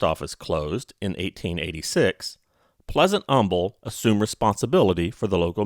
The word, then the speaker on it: Humble: of this choice that humble has its unique pronunciation pleasant humble pronounced his name with a silent h and the town followed suit german native charles bender